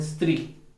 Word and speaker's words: स्त्री: यहाँ पर जो है वह तो आधा स और त्री है, लेकिन इस स्त्री को हम स्त्री बना देते हैं, ये गलत है। हमें स्त्री बोलना है, आधा स का ही उच्चारण करना है।